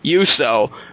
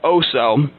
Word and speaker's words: Uso: McCain, and I said my name was Uso, which the host pronounced Oso.